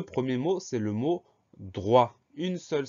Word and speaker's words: droit: On entend dr au début, donc on a un D et un R. Ensuite, on a le son wa qui s'écrit OI comme d'habitude. Et à la fin, on a une lettre muette, c'est le T, lettre muette qu'on retrouve dans droite.